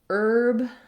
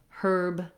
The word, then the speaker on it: herb: For example, in American English, we say herb with no H, and in British English, they say herb with an H sound.